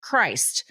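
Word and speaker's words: Crist: Among their children is a son named C R I S T pronounced Christ.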